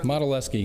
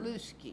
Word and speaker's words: Modelawski: It's not Lusky. No, that the W is very much silent.